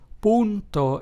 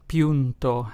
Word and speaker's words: punto: word oo so therefore the Spanish word punto which means point is pronounced as punto and not PTO as you probably would assume in English this vowel can also